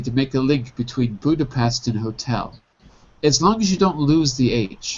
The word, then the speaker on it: Budapest: In English, we pronounce it Budapest.